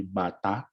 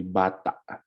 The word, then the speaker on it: bata: means child now um the symbol like this emphasizes the stress in the word and then this symbol here means that that it's a gloal stop it's a sudden stop so you don't say Bata you say Bata okay so Bata means